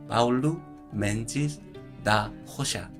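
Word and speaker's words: Paulo Mendes da Rocha: 브라질은 포르투갈어를 쓰기 때문에 이것을 포르투갈식으로 녹음하면 파울루 멘지스 다 호샤 라고 부르는 게 맞습니다. 네. 옛날에 뭐 호나우딩요, 이런 로날딩요 뭐 이렇게 부르고 그랬었죠. R이 H 발음 뭐 이런 것이 났기 때문에요.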